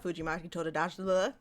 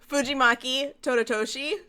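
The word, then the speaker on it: Fujimaki Tadatoshi: It is by the same mangaka, Fujimaki Tododachi.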